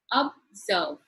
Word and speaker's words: observe: Let us look at the word observe. Observe. Two syllable. It is in the second syllable that the stress is given, that is observe.